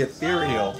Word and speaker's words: Ethereal: It's called the Ethereal. The ethereal electrostatic headphone system. It rhymes with venereal.